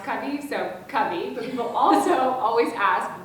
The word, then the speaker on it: Covey: get is first of all how do you pronounce cubby so cubby but people also always ask what does cubby